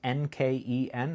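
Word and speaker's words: Nken: It's Nkeen. I believe that's pronounced.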